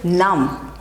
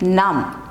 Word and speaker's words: numb: Okay, this sound is silent. Okay, next is numb. Say it, numb, numb.